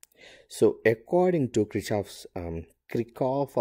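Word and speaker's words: Kirchhoff: according to krishav's um krikov or krishov's people i mean pronounce it a different way i'll go with kritchoff's voltage la or christoph's world current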